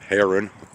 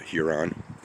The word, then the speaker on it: heron: And in case I mispronounced that, it's heron. A great heron, not Huron.